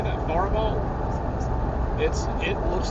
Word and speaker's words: Faribault: But the one near Faribault, I think is how you say that, Faribault.